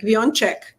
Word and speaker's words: Wionczek: It's Wionczek, and in Spanish I always say like avión y cheque, like Wionczek.